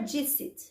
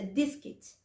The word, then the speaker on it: discit: O C não é dicit, é discit. Ele tem som de cali.